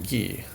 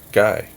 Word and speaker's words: Guy: scene now guy calendar probably pronounced his name ghee but he's not alive to correct me so i'm going to pronounce it correctly guy calendar calendar was a